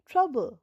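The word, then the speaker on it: trouble: পরেরটা টি আর ও ইউবি এলই ট্রাবল। ট্রাবল ওটা silent.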